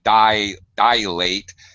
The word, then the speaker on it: dilate: Okay, it's a long I, so you're using a dilate. It's really easy to put that I sound, that Y sound, and turn it into another vowel. It's a little bit hard to pronounce properly.